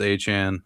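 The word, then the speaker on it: Etienne: more speedy guy, like say we signed Travis Achan, apparently is how you pronounce his name, Travis Achan Jr., who ended up signing with the Saints, I believe.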